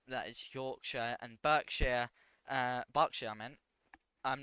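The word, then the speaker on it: Berkshire: Yorkshire and barkshire uh barkshire I meant I'm not sure how you pronounce that party I pronounce it barkshire coming from the county itself and we have Norfolk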